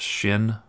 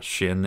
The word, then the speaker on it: shin: over that's called a shin or shin in the Hebrew it's pronounced like Shh like it's shy Shh sha'alu shalom yerushalayim